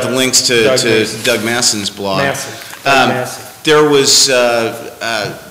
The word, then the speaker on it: Masson: definitely recommend is Doug I always mispronounce it it's Masson Masson Doug Masson um www.